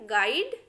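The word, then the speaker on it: guide: The letter you इज not pronounced when it comes after ji and before A vowel in a word. देखिए यदि जो है यू जी के बाद आए और यू किसी वोवेल के पहले हो, उस कंडीशन में हमें यू को साइलेंट रखना है। देखिए तब क्या हो जाएगा, ये गाइड, गेस्ट, गार्ड, गेस, इस तरीके से हो जाएगा। हमने यू को कहीं पर भी नहीं पढ़ा।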